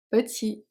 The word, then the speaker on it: petit: leur petit chien blanc petit t is silent and blanc is silent